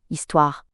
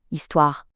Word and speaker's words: histoire: The word story is Histoire. Histoire. and it's a feminine word. It's like history, but the H isn't pronounced.